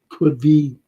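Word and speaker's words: Caoimhín: I said before, Daryl, you know, if it would have been Allison or the other fella, Kelleher, Quiveen Kelleher. That's how you pronounce his name.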